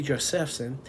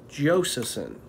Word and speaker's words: Josephson: years now and it's i pronounced it josephson pretty close just for the first guest but it's josephson josephson like joseph with a son on it uh pronoun i mean